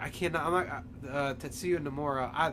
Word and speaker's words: Tetsuya Nomura: The creator, Tetsuya Nomura. That's actually how you pronounce it.